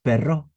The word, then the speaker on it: Perrault: Y y después, por ejemplo, durante el siglo X en la Academia Francesa, el autor de Caperucita Roja, Charles Perrot, Perrault se escribe, decía que no, que